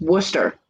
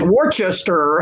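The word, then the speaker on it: Worcester: for Wooster and then they try and pronounce it and they pronounce it wrong because it's Wooster and they're like Worchester and we're like no okay that a collector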